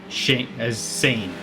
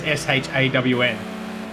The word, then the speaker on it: Sean: I always read his name as Scene, right? Well, that would be phonetically correct, I suppose. To me, that says Scene. Sean is SHAWN.